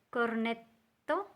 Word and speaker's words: cornetto: So make sure you pronounce all those doubles. Cappuccino, cornetto, alla.